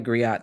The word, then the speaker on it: griot: It is pronounced griot in French.